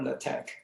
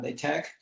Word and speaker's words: LaTeX: Oh, actually, how do you pronounce LaTeX here? LaTeX or LaTeX? I've heard 3 or 4 different pronunciations just in this conference. Okay. If you don't mind, I would say LaTeX.